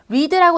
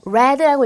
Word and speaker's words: read: read의 과거형과 PP형은요. read라고 읽으시면 안 되고요. read라고 읽으셔야 돼요. 스펠이 똑같다 보니까 여러분들께서 그냥 read라고 읽어버리는 실수를 많이 하시는데요. 과거랑 PP형은 무조건 read라고 읽어주시라고 발음 때문에 얘도 하나 넣어드렸어요.